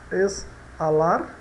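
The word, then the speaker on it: exhalar: Então ele fica exalar, né? Exalar, exalar, exalar.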